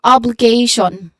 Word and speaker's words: obligation: So it start with a short O sound and then BB B sound and then it start and it follow it is followed by letter L sound with a short E vowel sound and then third um third how do you call it third syllable has a dip thong sound again what's a dip